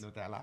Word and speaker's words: Nutella: --Nutella is so much better with the accent on the --That's how you say it. --Nutella --Nutella --Villafane --Exactly Nutella Villafane.